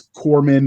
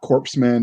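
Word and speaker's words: corpsman: there are some like it's Corman not corpseman like there's some that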